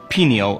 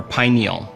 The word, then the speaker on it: pineal: melatonin let's start with the word pineal or pineal both pronunciations are correct pineal or pineal meaning